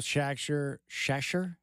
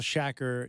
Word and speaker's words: Shacker: I've got Shasher. Shasher. I just butchered his name. Shacker is engineering the program and hanging out with me.